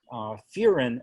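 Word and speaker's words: furin: And this site is called a Fearin site, and Fearin is spelled F-U-R-I-N.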